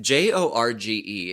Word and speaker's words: Jorge: If J O R G E is pronounced Jorge, why isn't Georges pronounced Horgees?